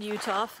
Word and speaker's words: Uhthoff: um it's right near a pit uh on utah line there's a lot a large limestone quarry